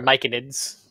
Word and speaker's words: myconids: They're myconids. There's no L.